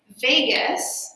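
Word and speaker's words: vagus: Vegas. Um not spelled like Las Vegas, but it makes me think of Las Vegas.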